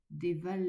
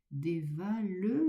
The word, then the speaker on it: dévalent: Bien accentué le e de déval ne pas dire dévale les ruisseaux mais dévalent les ruisseaux.